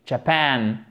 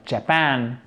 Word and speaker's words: Japan: Alors, attention à la prononciation de ce mot, ok, et à la place de l'accent tonique, Japan, le Japon, Japan.